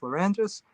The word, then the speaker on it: Lerangis: Nobody else has this name in the world, but it's Peter Lerangis, Lerangis, and it's pronounced Lerangis.